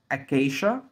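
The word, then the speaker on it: acacia: بعد كده أكيشا أكيشا، تعالوا كده نقراها واحدة واحدة. أ كي، وعندنا هنا السي اللي وراه أي وإيه، هنطقوا ش ش. أ كي ش أكيشا أكيشا أكيشا، اللي هي شجرة الصمت أو شجر الصمغ العربي.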